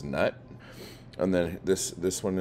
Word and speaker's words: Knut: don't know we'll just stick with Knute and Newt I've heard people say it both ways um and I don't know I mean is this a silent k situation and it's nut and then this this